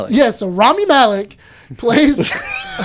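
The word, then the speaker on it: Rami Malek: Ramy. My brain's broken. Yeah, I've been saying Ramy. Okay. Ramy Melon. Yeah. So Rammy Malik plays I like how you were saying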